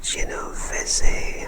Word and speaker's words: Genovese: and the fourth family is known as the genovese family the genovese family and that is spelled g-e-n-o-v-e-s-e and the final family on the